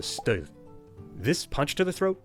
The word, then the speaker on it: stød: A little hiccup with a bold name, a punch, shock, or blast, is a stød.